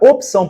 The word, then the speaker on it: opção: de fato este i a palavra opção por outro lado tem o p mudo então está correta e a